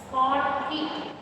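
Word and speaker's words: Schottky: You have to pronounce it as Schotky.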